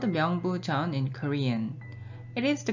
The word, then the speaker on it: 명부전: the name of the hall it is called myeong boo john in korean it is the korean pronunciation of chinese characters below literally the first